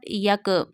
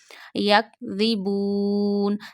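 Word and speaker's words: يَكْذِبُونَ: So this is not yak. Yak ribun.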